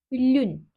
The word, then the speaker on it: lune: ederken L olarak okunuyor u harfi ü olarak okunuyor lün ay lune olarak yazılıyor Ama lün şeklinde okunuyor o kelimesi yine Tabii